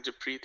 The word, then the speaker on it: Jappreet: Good morning, Jappreet. Good morning, Ramsey. Did I just say that wrong again? No, I Jappreet. think you said it right. Yeah, Jappreet, yeah.